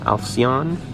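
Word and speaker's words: Alcyon: we have another french cycle here this 1924 alcion yes that's how you pronounce it i learned several things in the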